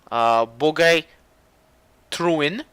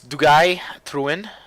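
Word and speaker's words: Duguay-Trouin: bit lower than the Bogey Truin. It's a it's in French. It's Dugay Truin. Truin. That's how you say it.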